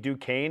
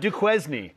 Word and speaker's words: Duquesne: They'll take on the 11 seed Duquesne in Omaha on Thursday.